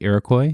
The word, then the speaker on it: Iroquois: fire of 1903 did I say that right Iroquois yes you did because there is a certain